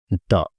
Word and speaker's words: the: चलिए इसमें आर्टिकल्स लिख देते हैं। आर्टिकल, तो जो डेफिनिट आर्टिकल है उसमें आपका आता है द, जिसका दो प्रोनाउंसिएशन होता है। इसको हम द भी बोलते हैं और इसको हम दी भी बोलते हैं।